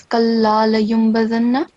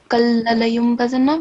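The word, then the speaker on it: لَيُنْبَذَنَّ: So first of all, here in the 5th verse, it's kalla layumbazanna, but Oh. you said kalla layumbazanna, which is too short because first of all we have lam mushaddad and then it's followed by alif.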